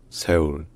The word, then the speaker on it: Séoul: En français, on dit juste en général Séoul, mais en coréen, on dit en général, écoutez bien, et ensuite j'explique, on dit Séoul, Séoul, Séoul, Séoul. C'est-à-dire que déjà, le S est très souvent, pas toujours